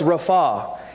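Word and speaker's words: רפא: you know the Hebrew word for heal is pronounced Rafa and it means to mend to make whole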